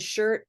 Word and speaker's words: shirt: so purple shirt words even though the letters are different right this one has a u r this word has ir and word is o r but that should not sound different they sound the same they all are this purple ER sound try it one more